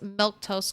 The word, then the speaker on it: Milquetoast: so by the way my name's milk toast CLA that's how you say it I stream normally Monday